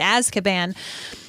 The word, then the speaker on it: Azkaban: asan and yes that's how you say it as caban so chapter one owl post and here is